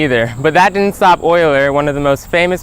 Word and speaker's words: Euler: wouldn't believe me either but that didn't stop oiler one of the most famous mathematicians of his time Leonard Euler I believe that says you were yes it is actually pronounced Euler aside from his name oiler derived one of the most famously beautiful math